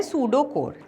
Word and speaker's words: pseudocode: इसमें सूडो कोड में ये पी साइलेंट होता है और हम इसको ऐसे पढ़ते हैं सूडो कोड, ठीक है।